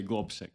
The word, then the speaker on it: Globsec: quite confused about is I say glob SEC other people say glob sec how do we say it properly it it depends whether you say it in soic or English but we say globi okay globi how many